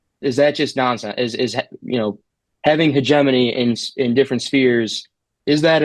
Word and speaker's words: hegemony: I mispronounce it every time. Hegemony. Is that correct? Hegemony.